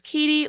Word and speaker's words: Gautier: So my name is Katie, like Katy Perry, even though it's spelled like Gautier.